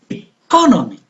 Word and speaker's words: economy: I said economy. So the stress is on co.